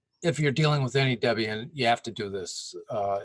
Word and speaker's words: Debian: with any at debate or Debian I'm sorry I'm putting the accent on the wrong syllable the if you're dealing with any Debian you have to do